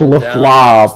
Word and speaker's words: Lefebvre: And it's pronounced Leflobs.